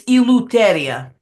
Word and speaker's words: Eleuteria: It's Eleuteria. Eleuteria? Yeah. Eleuteria? It's exactly how it is, since you pronounce it correctly.